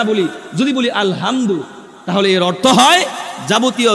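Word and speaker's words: الحمد: থাকি আলহামদুলিল্লাহি রব্বিল আলামিন এই যে আলহামদু এটা গলার ভিতর থেকে আসবে মাখরাজ অনুযায়ী উচ্চারিত হবে আমরা যদি এটা বলি আলহামদু নরমালি যদি উচ্চারণ করি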